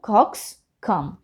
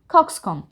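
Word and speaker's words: coxcomb: এভাবে নট কম কারণ এই বিটা কিন্তু একটা সাইলেন্ট লেটার তো আমরা ঠিক ভাবে বলবো কক্স কম কক্স কম এরপর আছে আমাদের ডালিয়া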